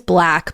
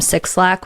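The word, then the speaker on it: 6LACK: His name is Black, but it's spelled the number 6, LACK. Like people used to call him Six Lack when he first started.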